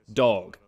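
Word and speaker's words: Dawg: And yes, his name is spelled D-A-W-G, Dog.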